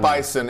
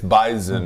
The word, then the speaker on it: Bison: It's not Bison. It's Bison. It's like a Z. It's almost a Z in there?